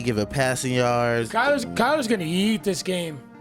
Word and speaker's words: Kyler: again Kyler Kyler Kyler Kyler like Skyler but with Kyler I always messed up